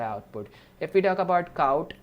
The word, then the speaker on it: cout: if we talk about cout like what is cout so C pronounce c out it is an object